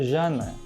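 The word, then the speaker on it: jhāna: Povo quero Palio e no PA Lidiana se pronunciava Jana então quando os primeiros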